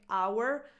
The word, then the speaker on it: hour: Just like our, this word, which has a silent H, but this word right here is a noun.